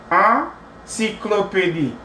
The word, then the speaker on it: encyclopédie: un sandwich, une encyclopédie, Pronounce it like nasalize it. Okay, it's a nasal vowel, so in encyclopédie, in encyclopédie, in encyclopédie.